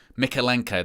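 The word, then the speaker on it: Mykolenko: Mikalenko, that's how you say it.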